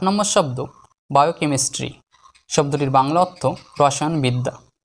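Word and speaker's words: biochemistry: 8 নম্বর শব্দ বায়োকেমিস্ট্রি। শব্দটির বাংলা অর্থ রসায়নবিদ্যা। শব্দটিকে আমরা 4টি সিলেবালে ভাঙব। BIO বায়ো, CHE কে বায়ো কে, MIS miss, বায়োকেমিস, TRY tree, বায়োকেমিস্ট্রি, অর্থ রসায়নবিদ্যা।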